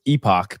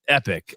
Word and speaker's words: Epoch: Uh I always thought it was epoch. I was saying it wrong for probably any what, two years? I don't know how long. So, I'm glad I'm saying it right. I actually put up the review of this six here today and somebody said, "Well, you're not saying that word correctly." Like, no, I'm actually am saying it right now. It's epic.